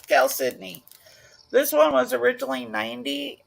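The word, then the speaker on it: chalcedony: Aqua Cal Sydney um spelled like calcidone but hey it's gal Sydney this one was originally 90.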